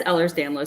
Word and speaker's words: Ehlers-Danlos: don't want to mispronounce this so can you pronounce it for me the oh that so conor has ehlers-danlos syndrome which is what i also have and